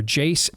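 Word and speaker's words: Jase: That's why you want to get a hold of our friends over at Jace Medical. J-A-S-E is how it's pronounced. J-A-S-E. J-A-S-E for Jace Medical.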